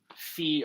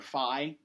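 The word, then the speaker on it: φ: itself which is why I'd said fee or Phi I fo fum it doesn't really matter this is how you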